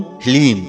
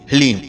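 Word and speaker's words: ह्लीं: ध्यान से सुनिए, ओम ह्लीम। जी हाँ मित्रों, मंत्र को एक बार आप फिर से ध्यान से सुनिए, ओम ह्लीम। इसमें हा, ला और बड़ी ई की मात्रा और अंक की बिंदी, ह्लीम।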